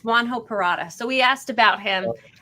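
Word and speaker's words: Juan José Purata: same thing we're like how do you say his name it's juan ho parata so we asked about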